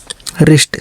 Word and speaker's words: wrist: WRONG wrong, wrong का मतलब गलत, W का उच्चारण नहीं हुआ। WRAP रैप, रैप का मतलब लपेटना। WRIST रिस्ट, रिस्ट का मतलब कलाई, ठीक है।